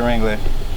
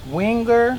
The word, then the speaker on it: Winger: It's Winger. Winger? Yeah. Say it again, because I said it wrong that time too. Winger. Winger. One R at the end. Not Wrangler like the jeans.